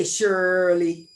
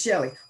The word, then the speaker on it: Shelly: name Southern boy said okay shirely let me think about it Surly and I would say it's Shelly okay Shirley and then